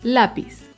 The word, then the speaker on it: lápiz: Otro ejemplo es la palabra lápiz. Lápiz es una palabra grave porque se acentúa en la penúltima sílaba.